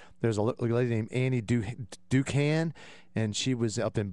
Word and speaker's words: Dookhan: Ducan, which is spelled Dookhan, lied about even having a master's degree in chemistry.